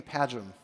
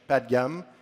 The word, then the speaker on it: Padgham: My name's Padgham, which is a horrible name. Nobody can pronounce it. Apparently it's British, all words ending like ham, like Buckingham, Nottingham.